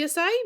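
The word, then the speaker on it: açaí: What is asai? And then there's a little pronunciation key that literally says, say it with me. Asai.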